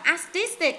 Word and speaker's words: artistic: Rồi hai bạn kia, artistic nhấn âm 2, historic nhấn âm 2, dramatic nhấn âm 2 và scientific nhấn âm 3.